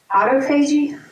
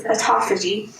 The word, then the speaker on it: autophagy: I always want to pronounce it Autophagy, but it's Autophagy.